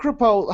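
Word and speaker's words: Crepeaux: yeah so now Mark kpo how do you spell it uh well it's original French family c r e p e a u x it's like shapo shapo like a hat like like a hat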